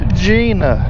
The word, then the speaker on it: Jena: but for some reason over here in Louisiana J N A is pronounced Gina I don't get it